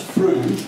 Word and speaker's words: Frude: some of my fellow pupils were mispronouncing Freud as Frude, and that was my name, and they knew it was something to do with sex, so I was getting ribbed of it.